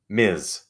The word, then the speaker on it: Ms: I'm married or anything it's Miz Ms so I have kept